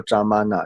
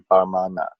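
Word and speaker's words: प्रमाण: 是念说扎玛纳，但是呢，正确的读音呢，他们是说应该是念巴玛纳。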